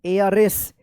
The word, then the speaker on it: heiress: एयरएस। एयरएस पढ़ेंगे, एयरएस, एयरएस। यहाँ पे भी क्या है? एच साइलेंट रहेगा, एयरएस पढ़ेंगे, ठीक है ना, एयरएस, ठीक है।